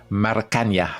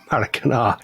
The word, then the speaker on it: Maracanã: And the other one is Rio de Janeiro's Maracanã. Maracanã, I pronounced that right. Maracanã.